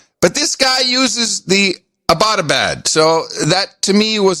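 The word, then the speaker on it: Abbottabad: very specifically it's pronounced abadabad yeah as in you know abbott and costello right and we were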